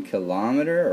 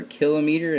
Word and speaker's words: kilometer: I'm trying to convert one kilometer or kilometer it would be the correct way to say it but everybody says kilometer so we'll go with it how many meters is